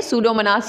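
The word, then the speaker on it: Pseudomonas: कहते हैं उसके अलावा सूडोमोनास थी साइलेंट है सूडोमोनास यह सिलाई के एक्सांपल्स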